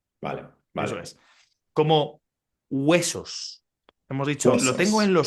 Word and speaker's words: hueso: Sí, Para nosotros, si hay una H y después hay un diptongo, es decir, hay dos letras juntas, unidas en la misma sílaba, como sí. hueso, hielo, ¿vale? Hielo. Se mezclan Vale. con un sonido inicial que parece más, en el caso de hueso, parece más como un sonido W, como hueso, Hueso.